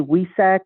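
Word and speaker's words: Wesak: about what's known as w-e-s is in spirit w-e-s-a-k we Sack or some some Hindu and Buddhist cultures spell it with the v as in Victory or Valentine z-e-s is in spirit AK vsac or we sack this is known as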